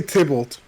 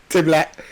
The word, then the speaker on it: Tybalt: He was trying to say Tybalt. Okay, and what did he say? Tyblat.